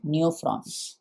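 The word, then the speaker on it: Neophron: vulture का हो जाएगा नोफ्रा एन ई ओ पी एच आर ओ एन नयो फ्रॉन एन ई ओ पी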